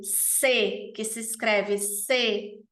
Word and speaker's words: ces: E a gente tem o C, que se escreve C-E-S, e a gente vai